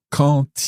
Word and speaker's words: quand: First of all, quand il est venu payer l'addition. So when we have quand followed by a vowel, the D on the end is pronounced, but it's pronounced as a T.